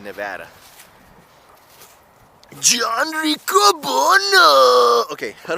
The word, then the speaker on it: Nevada: instead of Nevada I say Nevada cause of like Nirvana but I just say no but never Nevada you know like Nevada like not a whole lotta but I'm pretty sure it's most people pronounced in Nevada John Cooper no okay